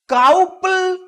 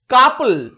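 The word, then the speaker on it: couple: কিন্তু এর অনেক ব্যতিক্রম আছে। যেমন সি ও ইউ পি এল ই অথবা ডাবল, ডি ও ইউ বি এল ই, O Yuta কাউপল, ডাউবল নয়, এগুলোর উচ্চারণ আবার শুধু আয়ের মতো, ডাবল, কাপল।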